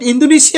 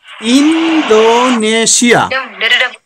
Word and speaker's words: Indonesia: I am asking you how many syllables are there? How many syllables? Four parts we can see. In do ne shia.